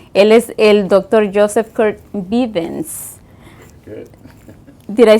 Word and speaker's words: Kurt Bivens: Joseph Kurt Bivens.